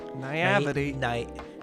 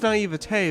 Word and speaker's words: naivete: Is Naivety. Naivety. No. I know it's naivete, but it's spelled like it's spelled naivety, and I hate it.